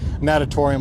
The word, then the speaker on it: Natatorium: Natuarium, is that it? Or natatorium, is that it? Natatorium or natuarium? It's that building right there. That's the one. Natatorium, I think that's how you say it. It's the Humu Nuka Ua Pua. Yeah. Natatorium, that's it.